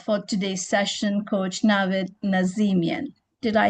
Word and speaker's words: Nazemian: And now it's my privilege to introduce our speaker for today's session, Coach Navidid Nazimian. Did I spell did I pronounce that correctly? Coach, that's correct. Nazimian. Yes, Nazimian.